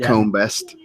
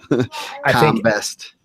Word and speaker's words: Combest: quarter bracket Dawson comest I did pronounce it right for once it's not comest com best again it's another one I